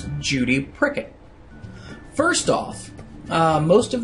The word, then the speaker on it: Prickett: have of M Judy pricket first off uh most of the kids that I can remember couldn't properly pronounce her last name and instead of saying pricket a lot of them said Cricket um I always found